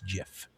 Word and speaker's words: GIF: It is not gif with a hard It's not gif with a hard G. It is gif.